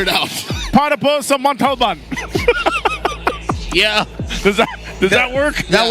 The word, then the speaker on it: Montalban: Montalban. There you go. I'm pretty sure if you told the driver to go there, he would figure it out. Para po sa Montalban.